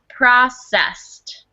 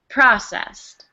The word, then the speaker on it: processed: here is two syllables processed process processed good excellent and the emphasis is on the first syllable processed processed excellent gun alright